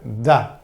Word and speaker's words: the: o determinado da Ok se pronuncia da con th sonido de th OK ahora bien este